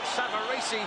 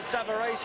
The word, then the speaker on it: Savarese: world still on the comeback Trail against Lou savaresi as we will call him the Italians behind us are pronouncing it savaresi and that'll do for me Frank Savar I